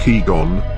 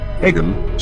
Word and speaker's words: Eygon: translated into English, and Japanese version is actually pronounced like Eygon, Eygon, so additional Y could be a result of text translation from Japanese into English.